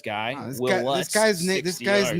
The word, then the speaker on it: Lutz: Wow, this, Will guy, Lutz, this 60 guy's yards. name rhymes with putts.